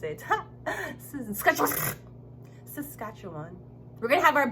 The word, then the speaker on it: Saskatchewan: I learned to pronounce it. Saskatchewan.